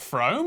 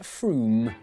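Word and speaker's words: Frome: It's not fro. F r o m e. It should be blitheringly obvious is pronounced Froom.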